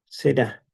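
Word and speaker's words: זרע: Será, con acento en la A, es la palabra simiente, y a lo mejor ustedes han escuchado esta palabra hebrea, se, cero, im.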